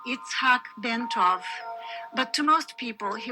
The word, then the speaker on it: Itzhac Bentov: His full name was pronounced Itzhac Bentov, but to most people he was known simply as Ben.